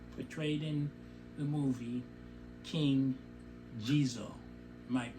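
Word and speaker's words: Ghezo: the king that's portrayed in the movie king jesus might mispronounce it g-h-e-z-o he is even in the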